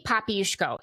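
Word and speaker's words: Popiełuszko: How do you pronounce the name? Jerzy Papiuszko.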